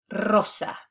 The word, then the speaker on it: rosa: Anytime in Spanish that we have the double R or that we begin a word with a singular R, it's going to be pronounced as r, that trilled R. So that's why we're pronounced perro, rosa.